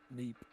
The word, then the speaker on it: Meep: I call her Meep. Meep with an N? Meep. Oh, with an M.